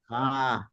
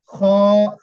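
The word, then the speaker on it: خاء: কি বললেন এটা খা খ না আকার দিবেন না খ জি ডাল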